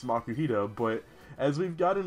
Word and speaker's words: Makuhita: words just put together or makuhita I mean you could just sound that one out and it makes makuhita but as we've gotten